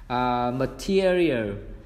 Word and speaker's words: material: Material, m âm swa này, m tear âm ear tear real.